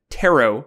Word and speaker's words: tarot: But this Bard pulls on spirits with tarot cards. There's no pronounced T at the end there.